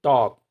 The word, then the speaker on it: talk: पर साउंड नहीं है लुक आते डी वर्ड टॉक इसी तरह से एक वर्ड देखिए टॉक टॉक का जो एल है इस साइलेंट यह भी साइलेंट है व की तरह